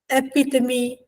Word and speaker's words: epitome: So, ragu, viscount, uri, epitome, ethos, and hyperbole. Many people thought it's pronounced as ragut or regout.